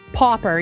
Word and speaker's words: Pauper: Pauper.